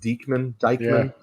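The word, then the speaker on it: Deichmann: so phil um greg i think it's pronounced deekman got traded uh to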